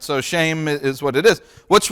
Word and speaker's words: Shem: looking at all right sham or um yeah and and by the way you might hear me say shame sometimes uh because technically that's how you pronounce it shame but shame just sounds